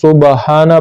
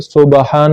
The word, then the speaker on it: سبحان: اللہم میں کرتے تھے، اس میں جو با ہے تو اس کو سبحانہ پڑھتے ہیں، سبحان ربی العظیم سبحان ربی الاعلیٰ، حالانکہ یہ اس طرح غلط ہے، با ساکن ہے، سبحان ربی العظیم سبحان